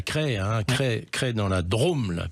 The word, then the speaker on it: Crest: Ça s'écrit C-R-E-S-T, mais ça se prononce bien Cray.